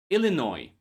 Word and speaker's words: Illinois: S is silent here too just as P P and S are silent in this word core debris Illinois island isle by count.